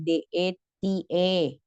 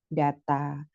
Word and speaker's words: data: Data, nah tulisannya sama ya, DATA gitu ya, DETE gitu kan. Tapi kalau di bahasa Indonesia, karena ada penyesuaian artikulasi, dibacanya data.